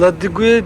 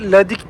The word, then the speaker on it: La Digue: Ben La Digue diyordum ama Ladik diye telaffuz ediliyormuş.